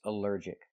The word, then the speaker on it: allergic: Allergic is three syllables. Allergic. The stress is on the second syllable. Allergic. Allergic. Here the ALL is not pronounced all but pronounced uh like in cup and up because it's not stressed.